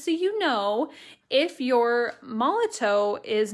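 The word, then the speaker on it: Molotow: Molotov.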